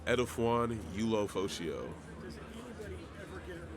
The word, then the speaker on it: Edefuan Ulofoshio: Edefuan Ulofoshio.